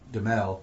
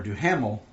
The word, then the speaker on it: Duhamel: Harvey Dent we've received, with Josh Duhamel, Yep. or Duhamel, however you pronounce it, I've heard it both ways, being Harvey Dent.